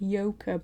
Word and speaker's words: Joke: sounds ridiculous in english actually no yoga you pronounce it yoker but yeah this is how you write